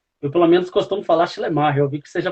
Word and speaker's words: Schleiermacher: E hoje no alemão mesmo, nós temos que dar uma ênfase maior no ma, né? Aí fica Schleiermacher. Schleiermacher, tá certo.